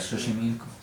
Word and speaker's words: Xochimilco: agua no entiendo como xochimilco este ser esa pronunciación correcta de xochimilco si mi hijo nos dicen con la equis